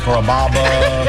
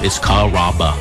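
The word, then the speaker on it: Carrabba: You know, Kaba, Kamaba, Kamba. It's a really easy name to pronounce. It's Kaba.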